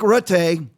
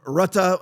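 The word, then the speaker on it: Rutte: I mean, you have you had Mark Rut or Rut or Ratta. I think it's Ruta is actually the correct way to pronounce it. I asked a friend of mine from the Netherlands.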